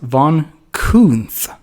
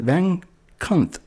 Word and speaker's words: Von Kunth: his last name is Von Kunth. Von Okay. Kunth. He corrects them too because everyone else pronounces it Van Kunth.